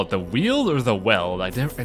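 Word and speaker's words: Weald: you call it the wheel or the weld I I never know how to pronounce this it is pronounced the wield yeah the sunny nice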